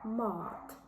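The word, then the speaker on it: mat: слово о па мавпа Опа або мат їжа Мот другий варіант - це а так як ми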